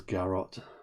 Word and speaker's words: garrot: I was tempted to pronounce it as it's carrot with a G, but I suppose it is Garrot.